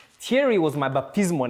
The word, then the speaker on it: Thierry: And I went from being called Thierry, or Thierry, as English speakers would pronounce it, to being called.